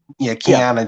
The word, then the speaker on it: Kiana: Kiana James.